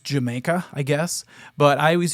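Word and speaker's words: D'yer Mak'er: has a bizarre title it's actually supposed to be pronounced just Jamaica I guess but I always used to call it di maker I think a lot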